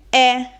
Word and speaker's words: è: Passiamo ora all'ultima coppia di monosillabi che è quella formata dalla congiunzione e suono chiuso e il verbo terza persona singolare è il verbo essere, quindi lui, lei è.